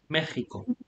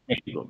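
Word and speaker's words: México: explain this um so this is probably the only word in spanish where you have an x is pronounced like a j okay you talk about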